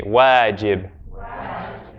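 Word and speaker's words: واجب: One word is wajib. Everyone say for me, wajib. Wajib. Wa, right? Wa, a, j, I, b.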